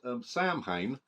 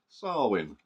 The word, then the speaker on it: Samhain: And yeah, little known fact: Samhain is actually pronounced Samhain.